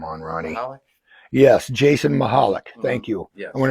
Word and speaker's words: Mahalik: Yeah, us Chicago people, we know how to pronounce these Polish names. With that one, you just take out the C.